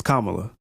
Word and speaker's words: Kamala: No, it's Kamala. It's Kamala. Kamala. Yeah. And then she's black or Indian. We have to respect her name. We have to say it correct.